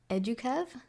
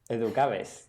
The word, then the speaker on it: Educaves: I read about a conservation and environmental education project that you started, and my pronunciation is so terrible, but I'm going to say Educave? Educaves, yeah. Educaves.